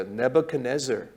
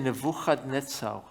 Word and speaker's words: Nebuchadnezzar: Nebuchadnezzar. Although 발음이 in 그래요. Hebrew we also say Nebuchadnezzar.